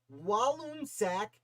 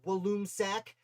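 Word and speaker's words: Walloomsac: is what happened in walloon sack new york on august 16th 1777. i think it's pronounced walloon sack i'm from new york and i still have trouble with that one so i'll throw your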